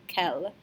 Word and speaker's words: quel: So remember, we do not pronounce the S on a, okay, but we do pronounce the L on quel.